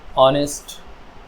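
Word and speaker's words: honest: निकलती है ठीक है जैसे है या है आवर या आर ऑनेस्ट ऑनर यहां पर एच की साउंड साइलेंट है ठीक है जब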